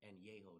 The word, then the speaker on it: Añejo: Añejo, that's how you pronounce it. Añejo. Añejo. What the f***? Añejo. That's how you say it in Spanish.